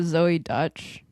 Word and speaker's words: Zoey Deutch: Uh Zoey Deutch.